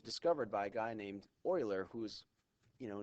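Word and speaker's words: Euler: Oiler discovered it and it's it's Oiler spelled with an E uh but um what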